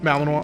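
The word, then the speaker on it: Malinois: I'd love me a good magical Belgian Melaninoi. Melanino. Is that how that's pronounced? Melanino. Or is it Melaninoise? It feels like it would be Melanino. Okay. So, Malininoa.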